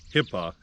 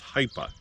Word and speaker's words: Hipa: Now, I've heard it pronounced Hipa, and I don't think that is the correct way to pronounce this company. I think it's Hipa, H-I-P-A, Hipa.